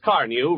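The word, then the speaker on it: Carnu: For the sake of your car and for your own pleasure, buy a can of Johnson's Car New right away. It's spelled C-A-R-N-U.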